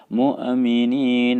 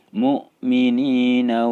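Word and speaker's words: المؤمنين: tidak menimbulkan pantulan suara tidak dibaca mu Aminin awal muaminah tapi mukminina Wal mukminat isum malam ya tubuh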